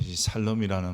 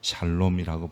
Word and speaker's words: 샬롬: 하나님의 말씀입니다 여호와살롬 중에 살롬이라는 말은 좀 더 정확한 발음이 잘 놈입니다 그래서 좀 살롬이라고 우리 한글에는 표현하기도 하는데 성경에 따라서 샬롬이라고 번역했으면 좋겠고요 또 읽었으면 좋겠습니다 구약성경에는 237회나 등장하는데 평안